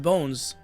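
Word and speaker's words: Bonz: new cards based on apparently you're supposed to pron pronounce it bones for the the guy from the Yu-Gi-Oh anime. Again, I have not watched the Yu-Gi-Oh anime in English, so I I I I can't tell like how you're supposed to pronounce his name, but apparently it's Bones, even though it's like it's written like bonds.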